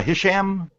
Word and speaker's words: Hisham: do we got next uh Hisham is that it yes or did I pronounce it right yeah you're no right I don't think we've heard from you before hasham yeah it's the first